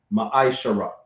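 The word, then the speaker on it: מעשר: Numbers chapter 18 verse 21 and Malachi chapter 3:8-10 which means a tent in the Hebrew pronounced maishara.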